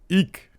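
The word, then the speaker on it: Eack: uh that's his name david how do you pronounce this e-a-c-k eek all right galactica uh is remaking walking tall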